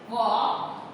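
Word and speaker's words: walk: वॉक, देखिए वॉक, इसमें silent हो जाएगा एल हो गया हमारा साइलेंट लेटर।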